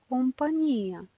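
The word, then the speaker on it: compagnia: Ogni magnifico significare, agnello, ingegnere, компания. Компания повтарям заради ударението, което е на и с точка.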